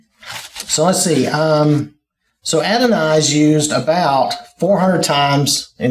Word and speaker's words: Adonai: person pronounce it and they say add an eye they don't say adenoid all right so let's see um so adonai's used about 400 times